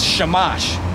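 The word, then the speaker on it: שמש: the way you say sun in hebrew is not soul it's shamash that's how you say sun that's that's where samson's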